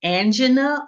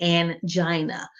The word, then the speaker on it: angina: And this can be pronounced two different ways. It can be angina or it can be angina.